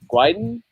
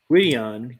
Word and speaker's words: Gwydion: Gwydin? Gwydion.